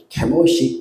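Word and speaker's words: Chemosh: 그모스가 누구냐라는 것을 알아봐야 되겠는데모스는 케모시 케미라고 원래 발음입니다.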